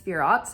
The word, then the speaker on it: Sephirot: And the second Sphirot, or Sephiroth, or however you can pronounce the word, I think it's Sphirot if you're in the traditional schools.